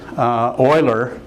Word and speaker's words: Euler: And it is sort of pronounced a little different than you might try to say it based on the letters. This guy, Euler, is one of the